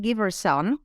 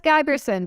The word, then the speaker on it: Giberson: So today I brought a good friend and an expert, Giberson. Did I say it right? Oh, it's Giberson, but Giberson, yes.